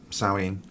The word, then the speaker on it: Samhain: celebrates the time of giving thanks and obviously sowing or samhain which takes place on october the 31st which